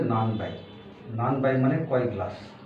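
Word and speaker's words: 何杯: নান high কয় glass কিন্তু নানের নর সাথে হলে উচ্চারণটা ব হয়ে যায় যেহেতু তাহলে এখানে হবে নান বাই নান বাই মানে কয়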